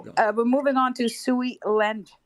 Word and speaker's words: Sui: And see how this is why I'm so bullish on Sui, because all these names, Sui in Mandarin means water. mm-hmm. Actually, you pronounce it as Sui, right?